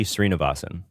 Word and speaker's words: Srinivasan: Silicon Valley CEO type, Balai, I'm sure I'm mispronouncing this, Balaji Srinivasan. It's Balaji Srinivasan.